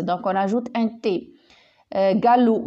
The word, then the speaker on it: galop: on rajoute un thé gallou galoper donc on ajoute un la lettre miel c'est un p d'accord donc vous voyez